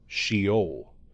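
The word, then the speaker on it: Sheol: Sha could also be pronounced as shol which means in English grave.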